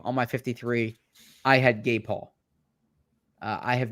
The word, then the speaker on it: Gabe Hall: Is there a different way to say Gabe Hall? It's just funny. How would you say it? Say his name. Gabe Hall. And I said Gabe Hall.